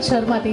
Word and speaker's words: शर्माती: स और श में क्या अंतर है? बहुत अंतर है। शर्माती और शर्माती। अब सही है, शर्माती।